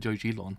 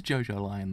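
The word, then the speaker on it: Jojolion: I always said Jojilon. That's how I always said it. So it's actually JoJo. Oh, so it actually is JoJo Lion then.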